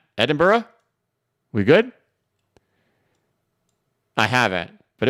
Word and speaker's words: Edinburgh: course in merch BCB Eden Burr I'm probably pronouncing that right Eden Burrow recently doubled its membership to two and it's going strong have you ever visited no let me type it into Google the capital of Scotland let me see how to pronounce it so not sound like a jerk Sox oh come on you don't need a four minute video to explain how to pronounce that foreign Edinburgh how about that Edinburgh we good I haven't